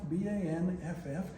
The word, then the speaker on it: Banff: It's named after a town in the Canadian Rockies, Banff, B-A-N-F-F. And the funny thing is, the second F is not silent. So you should really pronounce it Banff.